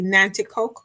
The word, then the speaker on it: Nanticoke: to your I hope I'm saying it correctly, Nanticoke roots. Yes, Is it that Nanticoke?